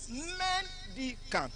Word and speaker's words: mendicant: Mendicant on the first syllable.